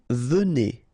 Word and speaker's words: venez: venons, all right, vous venez, okay, so a Z at the end combine will give you the sound E, and here you've got venez, vous venez, all right, and then ils viennent.